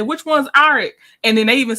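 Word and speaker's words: Arryk: and said which one's aric and then they even said that because technically their names are pronounced the same um Eric and Eric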